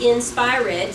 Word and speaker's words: inspired: many syllables is and remember I pronounced it in Spire red so where are we